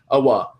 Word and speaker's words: Owa: I believe Owa is how you say his first name. Owa.